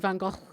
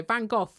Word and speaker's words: Van Gogh: That's Sorry, what- Van Gogh in American. British say Van Gogh.